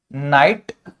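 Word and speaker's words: knight: नाइट knock. यह होते हैं हमारे के से। ठीक है? और इन सब में एक मतलब समान बात या सिमिलरिटी क्या है कि के का साउंड साइलेंट रहता है।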